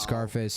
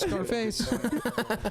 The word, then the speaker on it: Scarface: I was laughing about Scarface. I like to pronounce the name of that movie like you would the word surface.